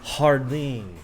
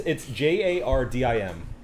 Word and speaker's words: Jardim: We also went to this wine bar out of the blue called Song Hardin. Song Hardin. Is that how you pronounce it? It's Jardim.